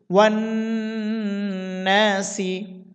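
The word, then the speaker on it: والناس: নুন আলিফ জবর না, জবরের বাম পাশে খালি আলিফ আছে, এই জন্য আমরা এখানে এক আলিফ টানবো। সিন যে সি, ওয়ান নাসি। আলিফ জিম সবর এজে, জিমে কলকলা করতে হবে।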